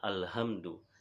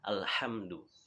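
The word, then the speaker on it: الحمد: ayat Hamdalah Hai alhamdulillahirobbilalamin kesalahan yang sering terjadi adalah pada soalnya pada huruf H ya biasanya ada kalau orang yang tidak kritis dia akan membaca alhamdulillah ya padahal bacaannya dengan ya makhluk yang benar adalah al-hamdu jadi Alhamdulillahi robbil Alamin Ya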